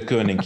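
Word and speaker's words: Deceuninck: their sponsorship ah we just learned how to pronounce it right the kooning yeah on the other hand the good news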